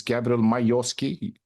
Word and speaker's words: Gabriel Majorsky: Did I pronounce your name well? It's Gabriel Majorsky.